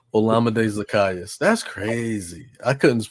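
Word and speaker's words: Olamide Zaccheaus: Olamide Zacchaeus. That's crazy. I couldn't pronounce his name right the whole year.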